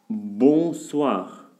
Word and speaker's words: bonsoir: Bonsoir. Bonsoir. Nasal, parce que c'est devant un consonne.